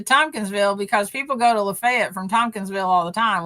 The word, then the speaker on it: Lafayette: So, then we got into like pronunciations of uh cities in Tennessee, and he goes, "It's uh it's not uh uh Lafayette, it's Lefayet, Tennessee."